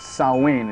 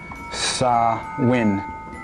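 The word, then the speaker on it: Samhain: part in an Autumn festival called samh actually pronounced sawin it's it's pronounced sawin or Summer's end it was a celebration of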